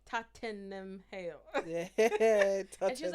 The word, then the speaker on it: Tottenham: Tottenham Hale. Yeah. And she was like, why are you adding all Like, those Tottenham. extra letters? Tottenham. It's Tottenham.